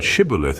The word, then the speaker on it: Shibboleth: The pronunciation of the word shibilith is usually with the stress on the first syllable, the i short, and the o obscure as in the word theory.